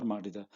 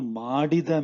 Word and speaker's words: ಮಾಡಿದ: So you see this ಮಾಡಿದ and ಮಾಡದ, they sound very similar, right? So that's why you have to be very careful when pronouncing it. Okay, so Ninu Madada Kelasa means the work that you did not do. Ninu Madida means the work that you did. Madida Madada. Okay, so just be careful about the pronunciation.